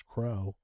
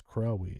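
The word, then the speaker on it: Crowe: I pronounce mine as Crow. Just because there's an E at the end of it doesn't mean that it's Crowy. It's Crow. The E is silent.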